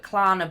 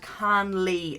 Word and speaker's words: Karnlea: have bone broth now I always get this name wrong and I always call it clana but it's called can Lee bone broth okay there